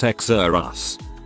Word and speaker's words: Xerxes: Xerxes. Pronounced Xerus.